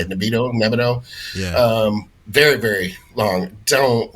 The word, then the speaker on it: Nebido: There's also, like, even for TRT, there's Nebido, that's how you say it, Nebido.